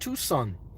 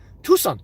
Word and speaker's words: Tucson: Jacob, also Tuscan is pronounced Tucson. Tucson. Okay.